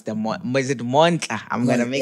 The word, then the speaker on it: Monhla: Where did I'm failing to pronounce the Mon. Is it Monhla? Monhla. Monhla.